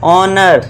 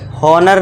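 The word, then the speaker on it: honour: ऑनर। हॉनर नहीं एच को silent कर देना है। ओ से पढ़ना है। एच को भूल जाओ।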